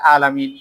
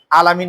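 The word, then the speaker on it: العالمين: এখন আলহামদুলিল্লাহ পড়ার সময় আমরা ম্যাক্সিমাম মানুষ এই আইনটা উচ্চারণ করি না, ডাইরেক্টলি বলি আলহামদুলিল্লাহি রাব্বিল আলামিন। আলামিন নাই, কিন্তু এই আইন আছে, আলামিন।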